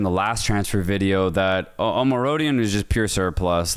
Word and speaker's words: Omorodion: Omorodion.